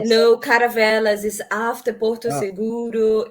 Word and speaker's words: Caravelas: I'm so glad that I could have the opportunity to do these things, Can you because pronounce it one more time for the us? It's Caravela? Caravelas.